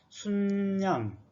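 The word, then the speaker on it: 숫양: 다시 말하면 수양 그러지 말고 순양, 아까 수소는 숫소 그렇게 말하는 사람이 있을지라도 그냥 수소라고 통일을 하자고 했죠.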